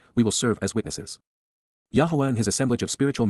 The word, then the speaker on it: Yahweh: humanity indeed because KY Yahweh Yahweh the proper pronunciation of the name of eloah God as directed in